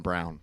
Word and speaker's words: Braun: Disrespecting my guy which is what Christian he Braun? is. I agree with that. There's not much pieces on that team. I just don't think they're athletic enough. I believe it's pronounced Christian Brown.